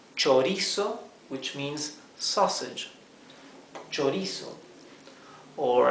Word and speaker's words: chorizo: CH, CH is pronounced ch. So this is chorizo, which means sausage.